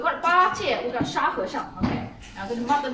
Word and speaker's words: 沙和尚: 沙和尚沙和尚. Very good pronunciation.